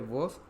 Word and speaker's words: vos: El pronombre vos o con pronunciación de Chile vo sí lo usamos, pero lo vamos a usar cuando queremos ser agresivos.